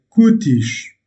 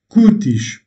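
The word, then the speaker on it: cútis: Le mot se maintient kutish, singulier, kutish, pluriel. Donc le mot se maintient invariable. Pourquoi? Parce que il se termine en S, mais l'accentuation est faite sur l'avant-dernière syllabe.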